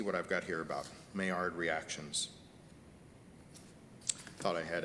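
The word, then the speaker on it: Maillard: this is the mayor it's pronounced mayar reactions after a frenchman who discovered this i don't know about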